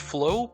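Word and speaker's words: Floe: mean I mean like it's pronounced Flo but it has an e there so is it pronounced different what is it with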